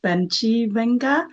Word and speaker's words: Bencivenga: Let's say I like how your father pronounced Bencivenga, Yeah. then Bencivenga. Mhm. So I'm trying to, because people want to change to fit in, America. Yes. For me personally, I'd like to stay for people to learn how to pronounce how we originally pronounce it.